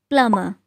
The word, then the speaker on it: plumber: No, it's plumber. Plumber. When B is followed by M, we don't pronounce B.